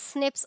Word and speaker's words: SNP: N scientists have identified about 1.4 million locations where single base DNA differences SNP single nucleotide polymorphism pronounced as snips occurs in human.